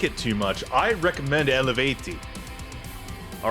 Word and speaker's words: Eluveitie: Oh, it's pronounced Eleveiti. It's not Elveiti or Eluveitie or Eluvetti or whatever. It's Eleveiti.